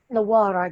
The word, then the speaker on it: Nawarra: It's Nawarra, that's it.